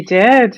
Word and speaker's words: Dix: Sophie D, is that how you're pronouncing it? D? D-I-X? Yeah.